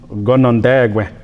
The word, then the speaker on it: Ganændagǫ: The term Canandaigua is actually kind of a corrupt term of the Seneca term, and the Seneca term is actually pronounced Ganændagǫ.